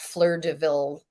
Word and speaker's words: Fleurs de Villes: And of course, we're also obviously on social media at Fleur de Ville. And that's with S's on the Fleurs de Villes. That's not how you say it, but that's how you spell it.